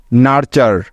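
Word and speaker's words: nurture: আর ভাঙা যাবে না, যেহেতু এরা হলো একটি ওয়ার্ড প্যাটার্ন যার উচ্চারণ সবসময় চার হয়ে যায়, তাই তো। সুতরাং এই শব্দটির তাহলে উচ্চারণ হবে এন ইউ আর নার এবং টি ইউ আর ই চার, নার্চার, নার্চার।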